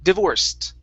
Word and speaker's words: divorced: s sound so this the root word is divorce that's a s sound okay so the e d will then sound like a t divorced uh oh did we